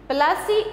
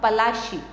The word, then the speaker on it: Palashi: Interpretation: Palasi is an anglicized pronunciation of Palashi, and the place derived